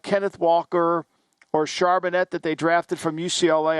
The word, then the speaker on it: Charbonnet: And when you have a back like Kenneth Walker or Charbonnet that they drafted from UCLA, I think that's how you say his name, Stormy. Charbonnet, yeah.